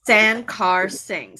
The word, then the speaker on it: Sankarsingh: correctly because I'm sure San car sing so three syllables it looks scary but it's it's pretty easy okay you guys got